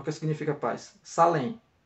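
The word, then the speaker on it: שָׁלֵם: Salém, né? Shalem, né? Na pronúncia.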